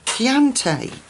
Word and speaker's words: Chianti: Chianti.